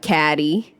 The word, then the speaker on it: Cady: Teenage Katie Heron, and they often pronounce her name wrong because it's spelled Cady. Caddy.